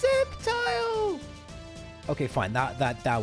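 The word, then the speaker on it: Sceptile: Or Skeptile, it's pronounced Septile.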